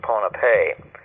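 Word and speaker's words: Pohnpei: Archaeologists cannot define who made this tremendous achievement of the sea, just off the northern end of another island called Panap, sometimes pronounced Ponape.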